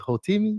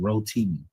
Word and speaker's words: Rotimi: And I think you was you was Hotimi. Yeah. I was I was Hoti. Yes, I was the Hotim. Yes, sir. I think I pronounced his name wrong. Rotimi.